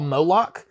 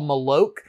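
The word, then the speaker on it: Moloq: they're back and forth they're called molok m-o-l-o-q nice which I think is the name of a monster in like a Norse mythology or something I think someone explained because I thought they were called malloc but then when you hear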